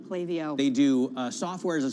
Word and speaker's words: Klaviyo: I believe, by the way, it's pronounced Klaviyo. Klaviyo.